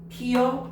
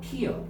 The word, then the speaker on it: 피어: 첨가돼서 반모이가 첨가돼서 자 반모이가 첨가됐기 때문에 여로 발음하면 허용한다는 거야. 돼 돼요. 피여 피어.